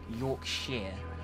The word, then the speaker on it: Yorkshire: out of saying it correctly it's because it's pronounced Yorkshire wow we just dropped in in jorvik Castle